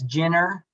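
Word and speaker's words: Ciner: port so again it's jenner and it's not it looks like center but it's pronounced jenner gin or sodash the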